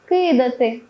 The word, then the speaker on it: кидати: там склад слід пам'ятати наголошуємо на перший склад такі дієслова кидати сердити слинити хльосати вудити